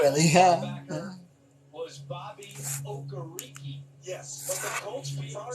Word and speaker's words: Okereke: us last night that when he said his name for the radio broadcast during the preseason, he pronounced it Okereke. And the PR staff said, wait a minute, it's been Okereke the 2 years. He goes, nah, you guys have been saying it wrong my first 2 years.